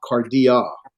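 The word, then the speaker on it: καρδίᾳ: alpha iota combinations where the iota subscripts and you don't pronounce the iota.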